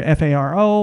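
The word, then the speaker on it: Faro: It's either Pharo or spelled like Pharaoh of Egypt, or they also called it, and more appropriately, Pharaoh Bank.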